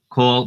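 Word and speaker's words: כל: Kol basar. All right. Kol. It looks like it says kal here, but it's pronounced kol. This is called the kamatz katan.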